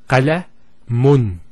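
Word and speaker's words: قلمٌ: If we put two dhammas, it will be pronounced as qalamun. Qalamun. So notice the noon sound at the end.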